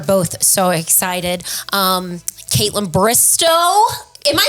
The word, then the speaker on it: Bristowe: Um, Caitlyn Bristo, am I saying your last name right?